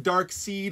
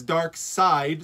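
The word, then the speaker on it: Darkseid: It's not Dark Seed, it's Dark Side. So just think of Star Wars.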